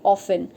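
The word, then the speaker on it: often: गलत कर देते हैं, लाइक ये ऑफन, इसको हम ऑफ्टन पढ़ देते हैं जबकि इसको हम ऑफन पढ़ते हैं। इसका करेक्ट प्रोनाउंसिएशन यही है कि ये ऑफन है, नॉट ऑफ्टन।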